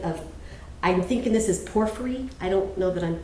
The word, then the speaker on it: porphyry: a mosaic pavement of, I'm thinking this is porphyry. I don't know that I'm pronouncing it correctly.